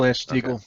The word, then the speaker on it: Glass-Steagall: Wait, I pronounced that wrong, didn't I? Oh well. No, that's correct. No. Glass-Steagall, the Glass-Steagall Act.